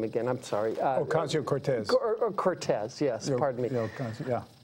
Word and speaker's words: Ocasio-Cortez: How do you pronounce her last name again? I'm sorry. Ocasio-Cortez.